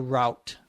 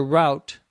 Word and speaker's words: route: After 3 more people get on board or get on the bus, the driver starts on the route. The route, R-O-U-T-E, sometimes called the route, both pronunciations are possible, is the path or the direction that the bus goes.